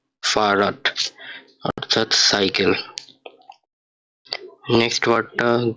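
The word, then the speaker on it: Fahrrad: তো এটার উচ্চারণ কিভাবে করব, এফ, আ, হা, এর, এল, আ, ডে, ফারাট অর্থাৎ সাইকেল।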